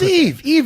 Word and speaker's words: Yves: So it's Yves Edwards. It's Yves, yeah.